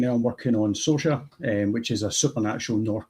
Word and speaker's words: SOARSA: If you Google it, so there is very, very in amounts of way people pronounce it. But as far as I can say, SOARSA.